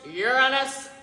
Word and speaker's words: Uranus: name what's what's wrong with Uranus actually it's pronounced Uranus you know what I quit I said I